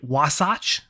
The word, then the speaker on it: Wasatch: We saw her not too long ago at the Wasatch, I believe is how you say it, the Wasatch Pro.